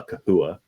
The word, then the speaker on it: Chahoua: This is a Chahoua, or some people call it a Kahua. And then some people call them Chewies. Chewies is another term. Chewies. I think Kahua is technically the proper pronunciation of it.